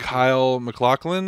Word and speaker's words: Kyle MacLachlan: Kyle MacLachlan, I think is how you say his name.